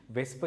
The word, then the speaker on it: VSEPR: ඕක අපි abbreviate කරන්නේ VSEPR කියලා. හැබැයි pronounce කරද්දී වෙස්ප කියලා කියනවා.